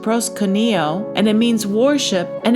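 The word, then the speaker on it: προσκυνέω: And that word is pronounced proskuneo, and it means worship, and it means to kiss the hand towards one in tokens of reverence.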